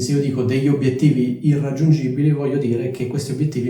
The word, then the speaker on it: irraggiungibili: vi chiederete Ma perché si dice irraggiungibili e non inr aggiungibili cioè perché la n diventa R semplicemente perché dopo c'è una R e quindi la n diventa una R cioè perché sarebbe difficile pronunciare inr aggiungibile allo stesso modo prima